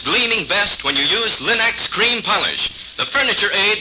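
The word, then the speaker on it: Linx: store remember to ask for them by name Linux it's spelled l i n-x Linux ask for it now now let's hear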